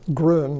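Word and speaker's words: Groene: it's by bertram hawthorne groon that's why i pronounce the name that's g-r-o-e-n-e it's a superb little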